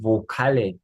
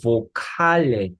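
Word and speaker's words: Vokale: 그 부로 발음해 주십니다 그러니까 이건 칼리가 아니고 보칼레 이렇게 뭐 라틴어에서 온 단어들은 강세도 좀 보칼 뒤에 올 수 있습니다 그래서 이거는 보칼이 아니고 보칼레 이렇게 발음됩니다 어 그렇게 해서 모음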